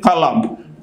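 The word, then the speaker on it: قلم: আল্লাযী খালাকাল ইনসানা মিন কলম, যে আল্লাহ তোমাদেরকে শিক্ষা দিয়েছেন কলমের সাহায্যে।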